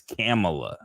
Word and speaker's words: Kamala: upset you don't say her name correctly it's camela okay really it'sa ha yeah yeah right right